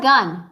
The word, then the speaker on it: gun: you have gum or do you have a gun next one let's have